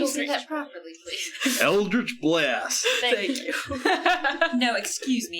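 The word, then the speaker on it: Eldritch Blast: sa yeah so I am going to cast Elder's black that properly please eldrich blast thank you no excuse me it's eldrich blast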